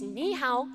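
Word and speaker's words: 你好: It's ni hao, daja hao. And I know my Ni hao, pronunciation isn't great, but daja first, hao.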